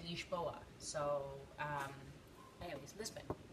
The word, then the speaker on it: Lisboa: we wanted to know how to actually how to pronounce it as Portuguese people would pronounce it and they said ish boa so um I always